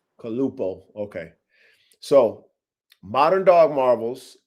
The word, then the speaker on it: Calupoh: How do you pronounce it? Ready? It's the Kalupo. Kalupo.